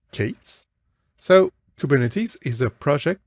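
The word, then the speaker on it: K8s: letters and then the number s and it's pronounced katees so kubernetes is a project that was created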